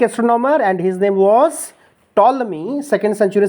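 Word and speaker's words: Ptolemy: पी तो silent होगा सर इसमें। बिल्कुल सर सही जा रहा है। सो ही होगा sir. This is टॉलमी। टॉलमी। टॉलमी।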